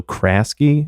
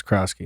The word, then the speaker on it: Krosky: I think his name is actually pronounced Bill Krasky. No, it's Krosky. It is Krosky? It's with an O.